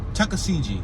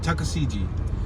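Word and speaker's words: Tuckaseegee: right on jessica street tuskegee tuskegee how do you say that tuska cg tusca cg he make sure i pronounce it yeah tuscasiji natucka cg oh wow t-u-c-k-a-s-e-e-g-e-e road tucker cg tucker cg so we're gonna tuck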